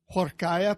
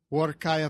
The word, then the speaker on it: Huarcaya: Chaya Pro yeah no the H is silent oh how do I say say it's like saying war by going to war with a kayak work I am war kya pro pro pro it's part